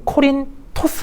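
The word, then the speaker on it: Κόρινθος: 도시가 나 있다고 했죠 우리 성경에서는 고린도 라고 하는데 이건 우리식 발음이 고 올리게 되면 코린토 스 에어 커리 토스 라고 하죠 코니 토스 라는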